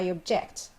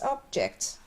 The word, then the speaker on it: object: there we mentioned that if we use the word as a noun or adjective we make stress on the first syllable while as a verb we stress the second syllable here we have I